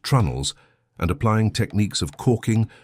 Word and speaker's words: treenails: fitting planks with wooden pegs called treenails, pronounced trunnels, and applying techniques of caulking, fairing, and finishing that have been passed down through chains of apprenticeship stretching back centuries.